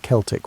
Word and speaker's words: Celtic: The Celtic peoples, and yes, we pronounce it Celtic when talking about these historical folks, not the basketball team pronunciation, occupied a vast swath